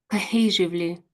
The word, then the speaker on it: cohesively: Cohesively. Cohesively. Cohesively. Cohesively. Yeah, that's pretty good, actually. Yes, cohesively. So we sort of say co, and there's a slight gap, I suppose, the syllable, isn't it? Then hesively.